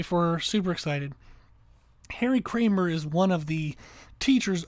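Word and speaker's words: Kraemer: written by Harry Kramer the last name is spelled k-a-r-a-e-m-e-r so Kramer k-r-a-e-m-e-r I'm listening to this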